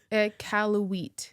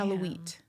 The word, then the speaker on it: Iqaluit: Oh, Iqaluit. Wheat, I think, is the proper pronunciation. Gotcha. Iqaluit.